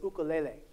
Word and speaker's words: ukulele: now I tell you that you're wrong that the the way that the people who uh popularize this instrument pronounce it is ukulele so now what I've